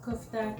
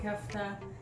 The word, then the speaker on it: Kafta: It can be pronounced Kufta, Kafta, but I'm used to saying Kafta.